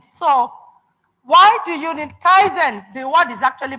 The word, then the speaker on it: kaizen: I I did so why do you need Kaizen the word is actually pronounced Kaizen and it's a Japanese word that